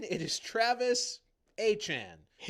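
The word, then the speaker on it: Achane: Travis Travis Achan's name looks like it would be Achen, which doesn't sound like how he pronounced it.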